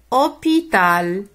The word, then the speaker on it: hôpital: un mot haricots haricots hôpital hôpital j'observe alors h ne se prononcent pas il anime et